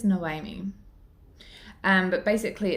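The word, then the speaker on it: Noemí: this is about I the way her name is spelled is n-o-e-m-i it's no I mean um but basically it's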